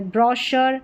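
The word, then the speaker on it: brochure: सी एच की sound श आती है।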